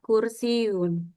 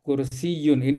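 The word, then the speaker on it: كرسي: Hadza kursiun. Ah ini hadza kursiyun. Ini ya itu sebenarnya ada tasdid. Ini kursiyun.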